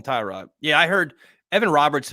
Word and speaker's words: Tyrod: I learned yesterday that everyone's pronouncing Taylor's first name wrong it's not Tay Rod it's Tyrod he doesn't correct anyone when they call him Tyrod yeah I heard Evan